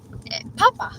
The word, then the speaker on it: papa: Papa, with no accent anywhere in any of the A's, it means potato. Mm-hmm. And how do you pronounce it? Papa.